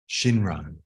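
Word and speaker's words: 親鸞: So by taking the Shin from Tenjin and the Ran from Donnan, look, Shinran.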